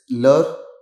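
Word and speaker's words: leur: Now you can see the pronunciations of all of them are same, but we have added an extra s for the plural one. But there is no change in the pronunciation.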